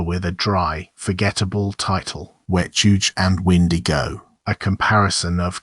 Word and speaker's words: Wechuge: The Dane-zaa called the thing Wechuge. It is pronounced Wechuge, and it is not a creature that comes out of the forest.